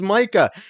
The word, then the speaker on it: Micah: Well, when I first started going over to places, I'm like, no, my name is Micah.